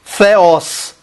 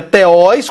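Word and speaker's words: θεός: Se pronuncia como TH do inglês, com a ponta da língua entre os dedos, ó. Theos. Theos. Não é teós, como se fosse teós.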